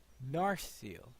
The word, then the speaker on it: Narsil: Well, I suppose a long E may be. Actually, that seems to be putting the accent wrong, because I would thought it was Narsil, maybe. Because I thought that it wasn't, that it's the penultimate, the penultimate syllable that's usually accented.